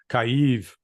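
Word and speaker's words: Kyiv: I call it remember Kiev is the Russian pronunciation so I'll stick with the Ukrainian Kiev kaive um the the Russians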